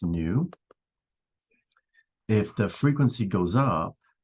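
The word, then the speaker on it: ν: that looks like that that's pronounced new if the frequency goes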